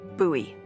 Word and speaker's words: Bowie: It's actually pronounced buoy.